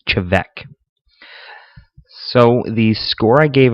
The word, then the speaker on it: Te Bheag: And I guess I've been saying it wrong even still. I guess it's Te Bheag. I've been saying Te Bheag all video. It's Te Bheag.